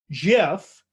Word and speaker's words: Jif: And then the other one, of course, is Jif, which is creamy peanut butter, of course. Soft G pronunciation, GIF versus GIF.